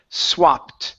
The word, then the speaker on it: swapped: Okay, the word is swapped with a T sound.